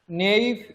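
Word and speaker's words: naive: भाई याकू प्रोनाउंस कला बेले एमिति करिवे, नेइव केमिति, नेइव केमिति कहबी, नेइव एमिति प्रोनाउंस करिवे, नेइव एमिति पढिवे।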